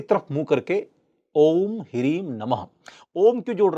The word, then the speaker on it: ओम: अ plus उ plus म। इसमें आकार का रेफ लंबा है और अ से जब आप म की यात्रा करेंगे तो ऑटोमेटिकली बहुत थोड़ी देर के लिए उ का उच्चारण होता है।